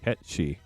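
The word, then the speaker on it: cat sìth: Wow, it's Gaelic language. Ketchi. He's not wrong. That's what the AI says. It's Scottish Gaelic meaning fairy cat. It is Ketchi.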